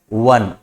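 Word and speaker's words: one: ये तो वॉवेल है, लेकिन अगर इसका उच्चारण करते हैं तो क्या होता है, वन, वन, राइट। वो साउंड यहां पर क्रिएट होता है जो कि कॉन्सोनेंट है, और इसलिए ही इज अ वन legged racer.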